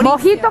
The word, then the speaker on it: mojito: Mojito quante H, scusi signora? Mojito non c'è l'H, c'è la jota spagnola. L'hai pronunciato come una bella H.